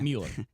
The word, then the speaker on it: Mueller: I always pronounce his name wrong. Is it Mueller? It's okay. Mueller.